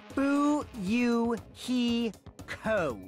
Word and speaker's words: Fuyuhiko: last name is my first name is pronounced boo you he co oh he's a completely